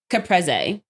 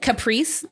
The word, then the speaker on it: caprese: It's caprese. Caprese. Oh, caprese. Caprese. Jesus, I said it wrong. But she said caprice.